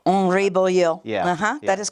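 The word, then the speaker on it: Boillot: Because to my knowledge, the T is silent.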